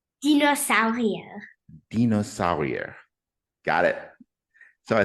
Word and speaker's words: Dinosaurier: And I probably pronounced that French, so pronounce it German for me. Dinosaurier.